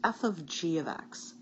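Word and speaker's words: f∘g(x): The first one is pronounced f of g of x. I know, it looks like it says the word fog.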